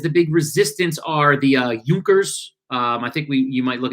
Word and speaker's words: Junkers: big resistance are the Junkers. I think you might look at it and say Junkers, but I think it's pronounced with like a U for the J.